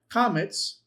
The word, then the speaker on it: qamats: Remember that your qamats is a long a as in father.